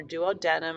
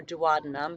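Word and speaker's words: duodenum: intestine which is called your duo denum or dadum pronounced both ways biodigest fats I remember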